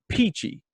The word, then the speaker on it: Pici: Now, the first time that Joe and I got together and got connected, I thought, Pici, is it P-E-A-C-H-Y? But no, it's Italian. It's P-I-C-I, but it's pronounced Pici.